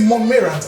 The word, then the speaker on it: Monmayrant: much Ma so first did I get the the pronunciation of your name right is it monant or how is it pronounced you're perfectly right so I'm impressed but